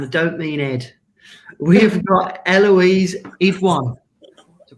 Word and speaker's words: Eloise Idoine: We've got Eloise Idoine. To pronounce that all right?